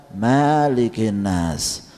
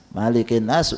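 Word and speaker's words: مَلِكِ النَّاسِ: ya a'udzu birabbinnas malikinnas tidak dibaca meliki Nas malikinnas enggak panjang ya Bapak bacaannya tetapi membacanya adalah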